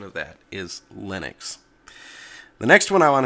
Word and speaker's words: Linux: where that name came from so the correct pronunciation of that is Linux the next one I want to talk about